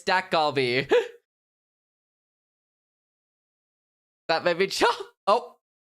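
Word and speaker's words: 닭갈비: What is galac? It's a Korean dish. I don't think I'm saying it right. Galac. I I am saying it wrong. It's Doc Galby. My bad. It's Dak Galby.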